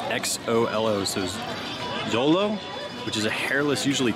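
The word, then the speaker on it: xolo: dante which is a and part of my pronunciation it's x-o-l-o so dolo which is a hairless usually toothless dog and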